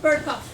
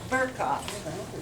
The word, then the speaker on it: Burkoff: Burkoff. Burkoff. There's an R in there.